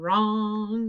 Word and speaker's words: wrong: right one for wrong it sounds like er okay i'm gonna put it up it's wr like wrist and let's underline it and it's a silent w and wrong i hope you didn't